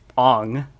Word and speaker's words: Aang: And then Noah Ringer, the person who plays Ong, how they pronounce it in the movie, he said M.